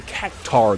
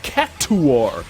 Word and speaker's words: Cactuar: over half my life and have been saying Cac-Tar my whole life, only for this game to say it's pronounced Cac-Two-Are, that's already a red flag.